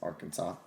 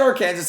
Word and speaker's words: Arkansas: out of our kansas arkansas oh fun i know if i said our kansas like as a joke people in the comments actually been like that is not how you pronounce arkansas i know it was